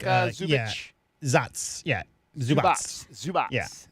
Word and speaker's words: Zubac: Yeah, Zubats. Yeah, Ivica Zubats.